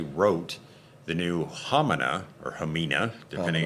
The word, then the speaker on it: Hamina: the new ham or hamina depending H they they pronounce it h most of the people in the Western World pronounce it um hamina but Peter wrote a